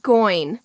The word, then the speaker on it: going: How is it going? Notice I don't really pronounce the G at the end of going.